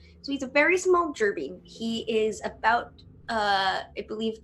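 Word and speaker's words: Jerbeen: Okay, so Rylan is a very, very small, I believe it's pronounced gerbine. Yeah. So he's a very small gerbine.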